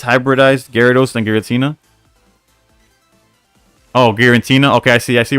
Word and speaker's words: Giratina: I think people make fun of Jody because he says Garantina. Nah, but what y'all don't understand is that his Giratina is guaranteed to get him the W, so that's where it comes.